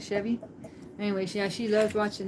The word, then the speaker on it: Chevy Chase: It's Chevy, not Chevy. Anyways, yeah, she loved watching that. Those were her two favorite. The Belushi Brothers on the Mission from God and the National Lampoon's Vacations with Chevy Chase.